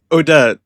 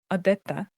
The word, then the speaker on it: Odette: Oh oh also Odette, how do you say her name? Is is it Odette? Well, if you look at the ballet, it's Odette. But in English just Just say Odette.